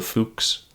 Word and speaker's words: Fux: Oh, by the way, from now on, I'm just going to call it the Fuks. Uh, and importantly, that's the pronunciation.